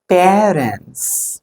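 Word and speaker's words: parents: நோ, the correct way of pronunciation his பேரண்ட்ஸ். பேரண்ட்ஸ். ஸோ இந்த பேர் இது எப்படி வாசிப்பீங்க? PAIR. இது எப்படி வாசிப்பீங்க? இட்ஸ் பேர். Pair of shoes. பேர். ஓகே, பேர். அதே மாதிரி தான் இங்க வாசிக்கணும். பேரண்ட்ஸ்.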